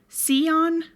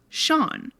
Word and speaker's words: Sean: And notice how I said Sion Brian McCarthy was her husband. So in Ireland, the name Sean is pronounced Sean.